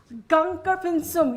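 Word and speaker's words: Gangkar Puensum: Gangkar Pinsum. You have perfect pronunciation there.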